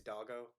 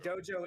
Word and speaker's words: Doggo: It's Doggo. Doggo. Okay. But Dojo is one of my favorite mispronunciations, to be fair.